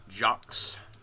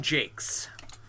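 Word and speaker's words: Jacques: everyone I knew growing up reading it always pronounced it JS and then when I was an adult I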